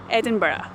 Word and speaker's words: Edinburgh: Edinburgh, like that, right?